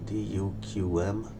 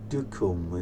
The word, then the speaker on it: Duqm: As you can see, it's written Duqm, but I checked online and I think the pronunciation is Duqm.